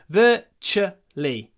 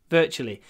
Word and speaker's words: virtually: and just remember ver the TU is pronounced CH virtually virtually okay that's another set